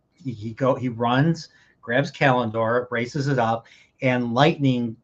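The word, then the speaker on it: Callandor: How do you pronounce the sword? I'm going to now I'm very self-conscious. Kalindor. Kalindor.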